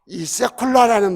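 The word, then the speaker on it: סגולה: 히브리어 발음이이 세콜라라는 말인데 너는 내 보배가 될 것이란 뜻이에요.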